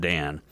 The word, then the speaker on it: Dan: correct them and say my name is not Daniel it's actually just Dan so it's very interesting